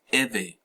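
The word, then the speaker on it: Ewe: do your research man dig on the eway very important tribe properly pronounced e right so it says it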